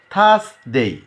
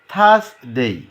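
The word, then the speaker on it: Thursday: এই থ উচ্চারণ করার সময় দুই দাঁতের মাঝখানে জিহ্বা নিয়ে যেতে হবে। থ থ থ থ থ, থার্সডে, থার্সডে, থার্সডে, ফ্রাইডে।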